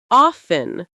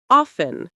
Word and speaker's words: often: You don't pronounce the T at all. It disappears. Common examples: listen to listen. often to often. Castle to castle. Whistle to whistle. Fasten to fasten. Christmas to Christmas. Sentences to repeat.